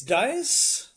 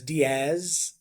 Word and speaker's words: Dias: your last name uh it's dis and how do you spell it D I say Das d i a s and um um in Australia I've been referred to as Diaz and I said Diaz is uh with a z and I was like